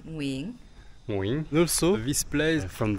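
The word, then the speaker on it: Nguyễn: How you say it then? Nguyen? Not Nguyen, Nguyen.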